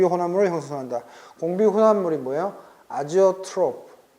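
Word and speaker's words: azeotrope: 아지오트로프. 선생님이 원어 발음을 내가 네이버 사전에서 봤더니 제이온가? 어렵더라. 선생님 그냥 아조트로프라고 할게요.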